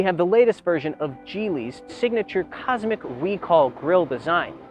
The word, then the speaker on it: Geely: The Haoyue is a 7-seat SUV, and the largest one offered by Chinese manufacturer Geely. Yes, it's pronounced Geely, not Geely.